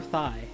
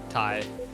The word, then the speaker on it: Thai: or thigh? Thai. Okay. I said It's mixed in by pronunciation.